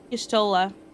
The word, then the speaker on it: Y'shtola: Y'shtola. Pronunciation 100% correct, though.